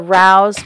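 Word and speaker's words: Rao's: I had some shrimp and broccoli with the Rouse which is spelled r-a-o apostrophe s alfredo sauce on top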